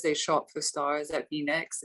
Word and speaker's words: Venyx: no i say that i sorry i say v-necks but some people say venice so it's fine you can say no it's